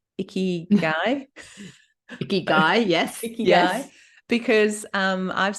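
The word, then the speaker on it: ikigai: foreign to me so it rhymes with sticky eye which is sort of useful as a doctor so your icky guy and it's the it's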